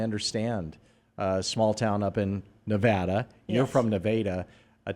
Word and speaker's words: Nevada: And it's spelled just like Nevada, but it was there before Nevada. So it is Nevada.